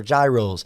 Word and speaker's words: gyros: the hogy spots and the Euros or Gyros however you want to pronounce it they're incredible and you